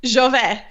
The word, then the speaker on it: Žove: Jove.